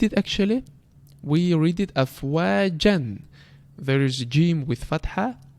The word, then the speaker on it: أَفْوَاجًا: So before it was afwajan when we didn't stop on it, and now when we stop we say afwaja, extending the haraka to the 2 points.